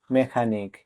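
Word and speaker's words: mechanic: এম ই সি এইচ এ এন আই সি মেকানিক এখানে এর পর এইচ লেটার ডি সাইলেন্ট থাকবে ডবলিউ এইচই N when মানে কখন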